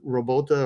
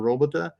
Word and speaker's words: robota: should be pretty close I think think it's robota or robota uh which referred to